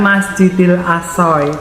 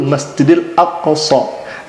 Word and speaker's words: Masjidil Aqsa: dia tidak tahu dan bagaimana pelafalan yang betul Masjidil Aqsa dia sampaikan tadi Masjidil